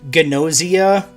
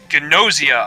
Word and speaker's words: Gnosia: nausea like you're sick it's you know it's it's got a g in front of it it's like pronounced like gnostic nausea among us yeah they they said gnosia oh my god yeah